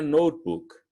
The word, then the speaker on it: notebook: I have a book and a notebook.